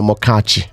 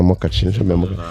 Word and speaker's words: Amokachi: My name is Daniel Amokachi, and I'm like, no Amokachi.